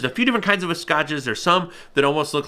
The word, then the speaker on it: vizcachas: They'll hunt, how do I even pronounce it? I'm looking at my note here. Vizcachas, that's right.